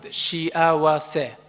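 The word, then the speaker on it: しあわせ: Let's pronounce it, shiawase.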